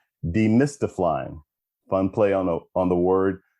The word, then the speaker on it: Demystiflying: Nope, I didn't mispronounce it. Demystiflying.